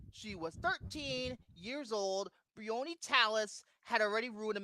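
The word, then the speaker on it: Briony: Brioni? Yes, that's her name. That's how it's pronounced in the movie.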